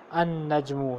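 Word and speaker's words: النجم: और दूसरा ये है कि जब ये होगी आपको पता ही होगा कि लाम को हम साइलेंट कर देते हैं। तो इसमें हम पढ़ेंगे अन नजमु, लाम को साइलेंट कर दिया, अर्रजुलु लाम को साइलेंट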